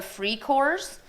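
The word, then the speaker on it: Freikorps: So it's going to step in are called the Free Corps. On your Words of the Week quiz, you will want how it is actually spelled in German, not the Free Corps, but that's how it's pronounced.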